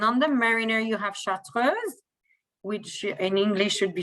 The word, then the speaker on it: chartreuse: the Mariner you have chartreuse, which in English should be chartreuse, but it's a French word, so that's I finally have a good pronunciation for that, chartreuse, which is a French alcohol that you find actually in the Alps.